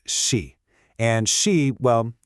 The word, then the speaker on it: 事: It's pronounced she.